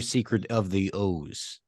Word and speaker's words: Oz: 2, Secret of the Oz. There's a lot of precedent for OZ being Oz. Yeah. There's like stone cold precedent that's pronounced Wizard of Oz, Return to Oz, Dr. Oz, the show Oz.